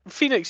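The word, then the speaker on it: Fenix: before he's real good phoenix is real good i mean he's his name is spelt terra play is f-e-n-i-x i don't like it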